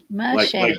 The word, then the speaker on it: Machete: Machete. Like Danny Trejo?